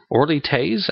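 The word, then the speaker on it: Orly Taitz: Orly Tate, or Taze, Orly Tate, I believe is the proper pronunciation.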